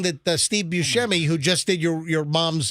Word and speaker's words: Buscemi: Buscemi, Right.